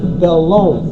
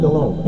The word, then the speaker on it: Delhomme: who say Jake Delhomme, keep in mind the H is silent. It's Cajun. It's Jake Delhomme for all you professional broadcasters out there. It's Jake Delhomme.